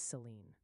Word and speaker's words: Saline: Salina is pronounced Salina, and Saline County is Saline.